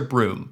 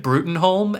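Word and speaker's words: Bruttenholm: Depends on who you ask in this movie, because the character's name it's pronounced Professor Broom, but it's spelled Brutenholm.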